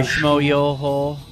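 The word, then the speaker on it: Schmoyoho: Nope, I'm aware of, the Jacksepticeye song by Shmo Yoho. Accent on the yo.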